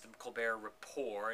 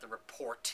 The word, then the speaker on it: The Colbert Report: is The Colbert Report, which is pronounced The Colbert Rapport, and not The Report, even though it's spelled that way.